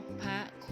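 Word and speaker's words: นพคุณ: กัน ค่ะ ต่อ ไป นบ พระ คุณ อ่าน ว่า นก พระ คุณ หมาย ถึง ทอง เนื้อ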